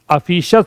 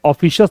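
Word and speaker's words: officious: ऑफिशियस क्या प्रोनाउंसिएशन है? यह बताया था। अफिशियस होता है। ऑफिशियस नहीं होता। और जब भी मेरे भाई लास्ट में आई ओ यू एस आ जाता है। कभी भी आपको इयस प्रोनाउंस नहीं करना है। इट इज अशस नॉट ऑफिशियस। है ना? शियस नहीं शस। अफिशियस।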